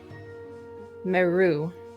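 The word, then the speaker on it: Merrue: and he will say, my name is Merru. The E is silent at the end.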